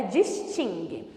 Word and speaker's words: distingue: distingue duas palavras distingue não distingue Ok a pronúncia correta é distingue se fosse terminado em Oz também receberia acento